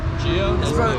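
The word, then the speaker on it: Jeo: Gio. Gio. It's spelled J E O.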